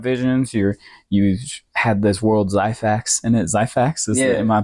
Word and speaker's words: Xyphax: You had this world Zyfax in it. Zyfax, am I pronouncing it right? XYPHAX. Okay. Yeah. So I was thinking with a Z, but it's two X's, huh?